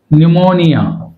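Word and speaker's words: pneumonia: ఏం జరుగుతుంది పి అనేది సైలెంట్ రైట్ ఇక్కడ పిఎన్ న్యూమోనియా న్యూమోనియా అంటే పి సైలెంట్ రైట్ పిఎస్ కాంబినేషన్లో కూడా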